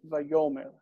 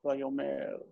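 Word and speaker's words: וַיֹּאמֶר: Always also the word Vayomer. Always accented here. It's always it's always penultimate accent. Vayomer, not Vayomer.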